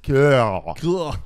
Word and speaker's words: Keough: Guys, it's pronounced Kill.